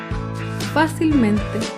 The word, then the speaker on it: fácilmente: es la palabra fácilmente fácilmente se acentúa en la sílaba anterior a la antepenúltima fila fácilmente por último